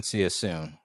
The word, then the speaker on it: CYA soon: All right, so everybody out there, at join, see you soon. Yeah, it's spelled like you're texting someone, CYA soon.